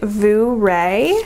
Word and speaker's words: Vooray: So this purse is by the company Vooray. It's spelled just like hooray, but with a V.